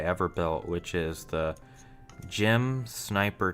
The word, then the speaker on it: GM: Jim is spelled GM.